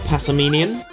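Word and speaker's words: Passimian: dratini still in the old dragon variety a passaminion that's how you say it pokemon catcher still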